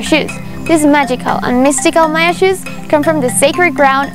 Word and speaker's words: MayaXus: In Spanish, the letter X is pronounced sh. That's the reason why we decided to call them Maya shoes, for it to mean the shoes of the Mayas.